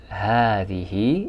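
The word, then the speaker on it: هذه: ahadi which is the feminine of hada it's pronounced as hatihi even though it's read it's written as hadi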